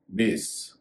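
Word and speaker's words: base: एक और शब्द है बेस बी ए एस रोज और बेस एक जैसे शब्द है लेकिन रोज में का उच्चारण ज हो रहा है बेस में एस का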